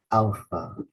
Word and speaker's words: alpha: stress so we say Alpha we put the stress in the first syllable Alpha the next letter